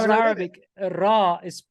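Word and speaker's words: راء: It's funny how in Arabic Ra is pronounced Ra. So the letter R or R is pronounced Ra in Arabic.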